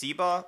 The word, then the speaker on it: Syba: is called I believe it's it's spelled Sy yba I think it's pronounced siba or something like that there